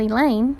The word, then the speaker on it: Elaine: I can handle Elaine," rhymes with pain.